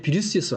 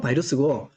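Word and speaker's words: virus: 어원인데 원래 바이러스는 라틴어의 비루스에서 왔어요. 그래서 뭐 영어 발음도 비루스입니다. 영어 발음은 바이러스고 독일어나 러시아나 그다음에 라틴어는 비루스였어요.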